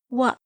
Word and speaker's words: は: The hiragana ha, when used as a particle, is pronounced as wa.